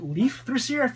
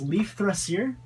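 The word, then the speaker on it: Leifþrasir: Let's see, it's Leaf, then there's this weird symbol, Rasir, and I think that symbol is pronounced with like the TH, so I think it's Leaf Thrasier.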